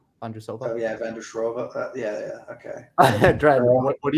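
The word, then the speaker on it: Markéta Vondroušová: Dude, how do you pronounce that name? Marketa Vondrusova. Oh yeah, Vandershrova.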